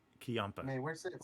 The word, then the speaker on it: Ciampa: Campia? Ciampa. Man, where's that sound? Where's that soundboard? Oh, every time I butcher somebody's name. All right. We got That'll work. we got Tommaso Ciampa.